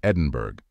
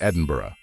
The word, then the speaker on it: Edinburgh: that many of you say this word as Edinburg which is correct if you refer to a